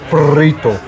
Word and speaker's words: burrito: into a mini burito it's pronounced burrito you got to pronounce the RS that's yummy tell me